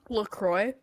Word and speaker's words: LaCroix: do you say it lacroix is the actual pronunciation i don't know i don't drink them oh but it's very hot it's french and if if you said it in french it would be more along the lines of lacroix okay so